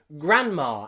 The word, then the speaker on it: grandma: need d daughter but in grand there we don't pronounce the d we just say gran gran same in grandpa and grandma we don't say grand